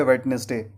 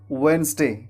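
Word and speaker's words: Wednesday: उच्चारण करते होंगे वेडनेसडे, लेकिन मैं आपको बता दूं कि वेडनेसडे उच्चारण बिल्कुल गलत है, क्योंकि यहाँ पर डी साइलेंट होता है, इसलिए हमें डी को नहीं बोलना है। तो वेडनेसडे नहीं बोलना है, वेडनेसडे बोलना गलत है। इसके जगह पे हम क्या बोलेंगे? इसके जगह पे बोलेंगे वेंसडे।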